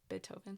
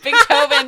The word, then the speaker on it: Beethoven: Beethoven. Sorry. Do I always say I always say big toven? I swear I wasn't trying to pronounce the G.